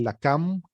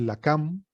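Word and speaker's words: lakam: La, ka, ma, se translitera la, ka, ma, se lee la cam, la última vocal de esta transliteración no se lee, solamente nos indica, la sílaba ma solamente nos indica el sonido de la última consonante, es decir, la cam, y al lado tenemos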